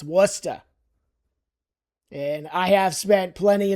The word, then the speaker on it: Worcester: And it's not Worcester. It is not Worcchester. I have heard people say Worchester. No. Do you see an H in there? Do you see an I don't see an H because there is no H.